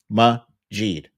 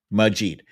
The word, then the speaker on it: Majid: difficulty pronouncing my name, Majid. I know it's 5 letters, it's 2 syllables, Majid. That's it, Majid.